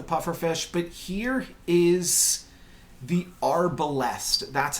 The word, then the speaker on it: Arbalest: the Arbalest, that's how you say it.